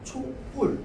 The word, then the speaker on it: 촛불: 근데 요거는 이제 발음과 관련되어 있는 거고 표기와 관련되어 있는 걸 보자면 결국은 초와 불이 만났는데 사람들이 전부 초와 불 합쳐서 뿔뿔뿔 이러단 말이야.